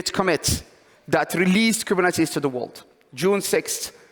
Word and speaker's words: Kubernetes: how to pronounce kubernetes any French people in the room no okay so French people is kubernets most most of the time um I mean it's funny because it's it's a Greek word so we don't expect people to know how to pronounce it but it's just interesting